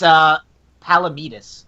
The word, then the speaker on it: Palamides: We have Amanda Leeton as Blossom, Kristen Lee as Bubbles, and Natalie, I'm going to say her name wrong, I think Palamides as Buttercup? It's Palamides. Palamides.